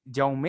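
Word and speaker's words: Guillaume: te preocupes quedo atento si yaum yaum así se pronuncia listo entonces yaum de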